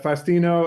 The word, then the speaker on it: Fastino: So funny enough, fastini in Italian means a feast. Okay. But Fastino, it's kind of a play on fast and tiny, like very cool, quick yeah.